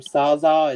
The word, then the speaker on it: SZA: That's, I guess they pronounce her name Saza. It's SZA is her rapper name.